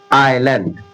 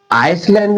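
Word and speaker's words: island: देखिए तो ये एस जो होगा ना, साइलेंट हो जाएगा। लिखने में आएगा पर पढ़ने में नहीं आएगा। इसे क्या पढ़ेंगे? आइलैंड, आइलैंड, आइलैंड, आइलैंड। अब इसमें आइसलैंड नहीं पढ़ेंगे, आइलैंड, आइलैंड।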